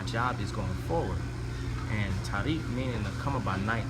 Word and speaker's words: Tariq: which they gave me, Tariq, or Tariq, as it's pronounced in Arabic, which is the 86th